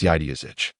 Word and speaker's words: Yaidazich: His name pronounced in your accent is Yaidazich.